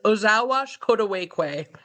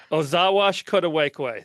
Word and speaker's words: Ozhaawashkodwekwe: As I told Rob before, I'm still a beginner in Ojibwe language, but how I've learned it is Ozhaawashkodwekwe. Ozhaawashkodwekwe.